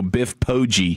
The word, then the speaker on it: Biff Poggi: Yeah, I think it's I think it's a hard G. I think they go Biff Poggi.